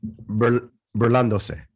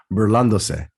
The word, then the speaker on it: burlándose: Burlándose. Burlándose? Not burlándose. Burlándose. Burlándose. I just did a deeper voice there, but the same thing. No, se. S-E is se. Like Burlándose.